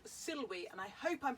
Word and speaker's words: Silwy: So this time it's a German company called Silwy, and I hope I'm pronouncing that right because I've never actually heard it pronounced out loud, but it's S-I-L-W-Y. Silwy? German, yeah, W's a V, and it's Silwy perhaps.